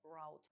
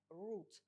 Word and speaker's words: route: Зверніть увагу на слово route. Воно перекладається як шлях, маршрут, курс та має два варіанти вимови. В британському варіанті це route, а в американському частіше вимовляють route.